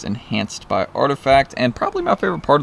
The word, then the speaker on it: RTFKT: you guys can see artifact rtfkt whatever you want to say know it says artifact there's the load uh their logo or that's what it's you know pronounced out as there's also another part